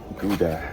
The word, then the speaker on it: Gouda: This is the Portobello burger with the Gouda cheese. And again, it's not pronounced Gouda, it's pronounced Gouda.